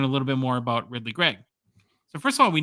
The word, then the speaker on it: Ridly Greig: So I'm on YouTube, I'm looking up ESPN highlights, and sure enough, it's Ridly Greig. So, hey, much to do about nothing, even though it's spelled all funny, Ridly Greig.